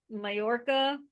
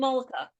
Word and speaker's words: Mollica: I want to show you that, that Phil Mallorca, how do you say his name? Mollica. Phil Mollica.